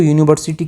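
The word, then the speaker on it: university: तो यहाँ पे जो यूनिवर्सिटी की जो साउंड है, जो प्रोनाउंसिएशन है, ये स्टार्ट हो रही है कॉन्सोनेंट साउंड से।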